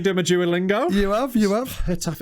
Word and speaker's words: Getafe: Getafe, it's like a sort of a... Is that, you don't say a G, do you? No, because the way I... It's more of a J and a...